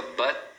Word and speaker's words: but: Mesma coisa, but. But. Então, eles seguram o T no final.